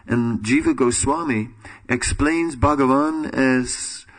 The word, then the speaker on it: Bhagavan: Krishna is Bhagavan, and Jiva Goswami explains Bhagavan as, he breaks it up in 3 syllables, Ba, Ga, and Va, and then says, Ba stands for Bhajaniya, Ga for Guna, and Va for Vasista.